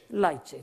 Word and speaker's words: Leite: shared by, I think his name is pronounced Leite. I've never met him. You know, the guy who's written the most wonderful little book. Is his name Leite? Jose Leite? That's what I'll... Huh? Leite, thank you.